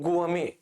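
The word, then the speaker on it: gourmet: और गुआमे दोस्तों इसका प्रोनाउंसिएशन होता है गुआमे, मैं लिख देता हूं गुआमे, गुआमे। और इसका मतलब होता है भोजन प्रेमी, भोजन प्रेमी इसका मतलब होता है।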